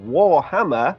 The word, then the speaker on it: WorHammer: Warhammer. I'm saying it like that because it's spelled with an O and not an A.